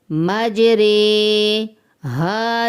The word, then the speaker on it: مجریہا: طرح ہی پڑھنا ہے۔ مجریہا، یہ پورے قرآن میں ایک حرف ایسا ہے جس کو ہم اسی طرح ہی پڑھیں گے، اور اس کے ہجے کیسے کریں گے وہ بھی ہم سیکھتے ہیں۔ میم جیم زبر مج، را امالا والی رے، مجرے، ہا زبر الف ہا، مجرے ہا۔ یہی میں نے آپ